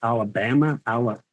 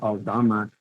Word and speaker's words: Alama: name my last name they were like Alabama Al and I'm like no Alama next thing I know